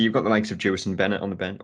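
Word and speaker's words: Jewison Bennette: got the likes of Jefferson Bennett on the bench, or Jefferson Bennett, I think is how you actually say his name, which I've worked out, Michael.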